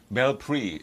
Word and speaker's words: BELPRI: Devon Paulino, policy analysts with, is that BelPri or BelPri? BelPri is BelPri, how we pronounce BelPri UB.